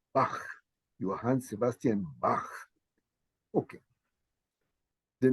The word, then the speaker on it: Bach: your your hand Sebastian Bach so at the end of his name is unfortunately in English we say back but I'm just saying it's a Bach Johan Sebastian Bach okay